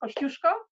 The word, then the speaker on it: Kosciuszko: we always always always correct people one is pronounced Kosciuszko the other one is lucky ranges and it